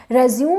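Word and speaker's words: résumé: हो, तो अपना एक रेज्यूम बनाओ, ठीक है। रेज्यूम और रेज्यूमे दोनों प्रोनाउंसिएशन है इसके, जो बोलता है उसके लिए वही कन्वीनियंट है और वही सही है, ठीक है।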